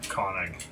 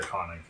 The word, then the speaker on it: Konig: Yes, north to northward Ker, Or Ker Konig.